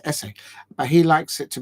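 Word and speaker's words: Esse: SS e and apparently he likes for his surname to be pronounced um as if you're writing an essay for University and you're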